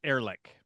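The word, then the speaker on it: Ehrlich: I think I've I think I've generally seen it pronounced Erlick.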